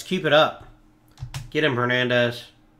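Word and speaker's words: Hernández: Get him, Hernandez. Or Hernandez. Excuse me. The H is silent at being a Spanish accent.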